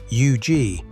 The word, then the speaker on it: Huger: Huger is pronounced you-gee, with the weight on the second half.